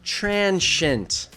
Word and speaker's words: transient: TRAN-shint.